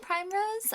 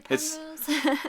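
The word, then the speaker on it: Primrose: is Villa Prim Rose is it Prime Rose or Prim Rose I was saying Prime Rose uh via Prim Rose it's spelled Prim Rose yeah so this is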